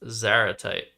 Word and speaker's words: zaratite: But here, Seth bingos with Zaratite. You'd pronounce like antipode.